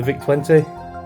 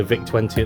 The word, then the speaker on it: VIC: I do believe that the pronunciation of Vic sounds like thick apparently and I think